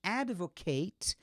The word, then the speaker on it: advocate: E, finalmente, Aliás, outro exemplo aqui, né, para finalizar, que é o advocate, desculpa, como o verbo que muda a pronúncia, que é advocate.